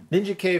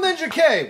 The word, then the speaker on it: Ninjak: It's like, kill Ninja K! Which one? Or, kill Ninjak! I don't know. Is it? They're both pronounced with a hard K at the end.